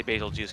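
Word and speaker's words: Bazelgeuse: __ ] basil juice i say basil juice because it sounds like beetlejuice yeah that i think that's how they intend you to pronounce it anyway but the juice instead of goose but yeah the hard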